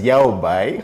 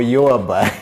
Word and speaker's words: Yaobai: Uh I'm I'm glad that you're not mentioning it as Yao Bai or Yo Bai because most most people have to be corrected uh that A is silent in Chinese, so it despite the